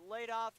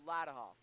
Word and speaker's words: Ladenhoff: Y we pronounced it laid off. It's supposed to be Latov.